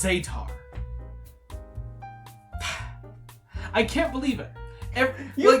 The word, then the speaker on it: Zetar: ] it's pronounced zetar I can't believe it